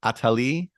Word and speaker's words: Attali: talking about a little jacqu atali I believe is the pronunciation atali is what the Google told this at Jack at